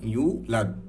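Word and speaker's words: يولد: তো ব্যাপারটা হচ্ছে লাম ইয়ালিদ ওয়ালাম ইউলাদ, হ্যাঁ লাদ ওয়ালাম ইউলাদ না, অনেকে আমরা পড়ি লাম ইয়ালিদ ওয়ালাম ইউলাদ, ব্যাপারটা এমন না।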